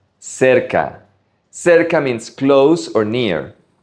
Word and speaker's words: cerca: Make sure you pronounce it right. Cerca.